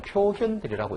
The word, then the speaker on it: 표현대리: 볼견자인데 한자로는 이게 견자인데 이상하게 이게 법학 용어로는 이거를 현자라고 읽더라고요. 그래서 이제 교수님들 중에는 요거를 표견대리라고 읽는 분들도 있고 그냥 표현대리라고 읽는 분들도 있어요. 근데 이게 훨씬 많습니다.